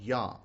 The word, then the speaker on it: Yah: Because when you look at the short form of the name, Yod and He, it actually says in the Psalms Yah, and that is accurate. That is how the initial name begins.